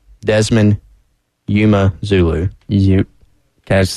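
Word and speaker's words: Desmond Umeozulu: Did you see that in the pronunciation guide? We've been getting Desmond wrong, been doing him wrong. Not Desmond Umezulu. Desmond Umezulu.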